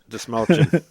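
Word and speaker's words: Dastmalchian: to 101 David Desmalchins to make sure that movie never got made. Desmalchin. Desmalchin is how you say it.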